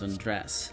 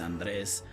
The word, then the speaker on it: Andres: My name's Andres. Like taking your clothes off. Like, well, they don't spell it like that, but that's how I like to be said it. Otherwise, in Spanish, it's Andres.